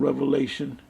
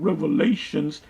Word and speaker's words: Revelation: into the book of Revelation the only thing did this clown um dr. James wait to eat him I would say is just it's pronounced revelation not revelations that's about all he knows